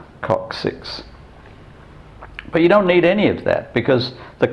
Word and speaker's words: coccyx: And that also explains why your tailbone is pronounced coccyx, because the Y stands for an I, so it's C-O-C, the first C followed by second C, first C is K, second C is S, coccyx.